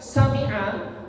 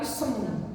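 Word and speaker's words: سمع: Sering saya mengucapkan sami'a, itu saya mendengarkan imam bukan sami'a, tapi semi'a. Semi Allah sudah semi'a hamzah. Ini hati-hati. Coba sami'a.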